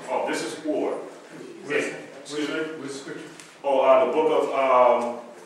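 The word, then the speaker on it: אור: And the reason why we're not pronouncing, is the reason why this is not akur is because these are two vowels.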